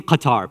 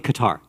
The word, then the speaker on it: Qatar: saying qatar please please stop saying qatar it's qatar okay we know how to speak arabic all of you know you've taught been taught to pronounce it don't say qatar don't say iraq don't say iran we know how to pronounce these things right have a little